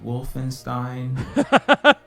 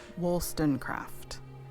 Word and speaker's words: Wollstonecraft: Make sure to pronounce my entire title. Sorry. Baroness Wolfenstein? Wollstonecraft.